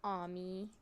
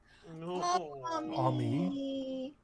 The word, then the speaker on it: Ami: His name is Ami. Ami. How do you spell it? A-M-I, but it's like pronounced with like an H in there, but the H is, I guess, just not.